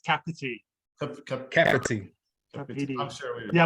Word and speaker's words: Kapiti: Yeah, you did well with the pronouncing it. It's Kapiti.